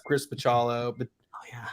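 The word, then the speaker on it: Bachalo: Marvel Generation X Chris pachalo but oh yeah Chris the cello I think is the correct I've learned recently and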